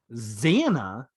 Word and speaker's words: Xana: and to further make my case, Xana rhymes with Anna, and Treya rhymes with Leia.